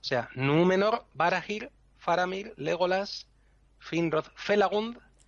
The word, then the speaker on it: Númenor: Entonces, por eso, por ejemplo, Númenor no se acentuaría en la segunda, porque la segunda sílaba es me, que no acaba en consonante, por lo tanto, se acentúa esdrújula, Númenor.